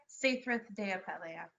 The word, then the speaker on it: Saethryth de Apeleia: We'd like to welcome everybody to Lion's Den and to thank, I think it's pronounced Saethryth de Apeleia. Yeah. Is that correct? Yeah, Saethryth de Apeleia.